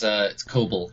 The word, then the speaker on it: Koebel: His name's Koebel. That's Koebel, right? That's how you pronounce it? Close. It's Koebel, kind of like kobold.